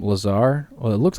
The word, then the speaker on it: Lazar: whose name is laser well it's not laser it's Lazar it's spelled laser no it's not yes it is it's La a z a r right yeah isn't